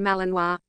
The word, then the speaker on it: Malinois: The Belgian Malinois, which is pronounced Malinois, is a medium-sized Belgian Shepherd dog.